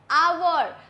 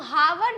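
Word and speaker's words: hour: लेकिन हम जब इसे बोलते हैं तो कैसे बोलते हैं? आवर। हम हावर नहीं बोलते इसीलिए एच यहां पर साइलेंट है तो उसके साथ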